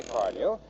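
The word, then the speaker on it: Carnu: Car New is spelled C-A-R-N-U.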